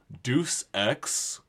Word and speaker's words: Deus Ex: And today's gaming term pronunciation of the week is Deus Ex, commonly pronounced as Deuce Ex, or whatever else I have never heard it called Deus Ex.